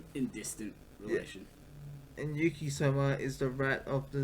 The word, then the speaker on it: Soma: That's how you say it, right? Soma. Yeah. That reminds me of the game Soma.